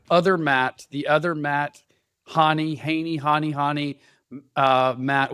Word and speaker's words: Hahne: It's like Connie with an H. Hanie.